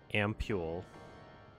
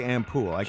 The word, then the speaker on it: ampule: Like, I could maybe use this ampule. That's a fun word. Yeah. It is. I don't agree with how you're pronouncing it, but it's a fun word. How do you say it? I would say ampule.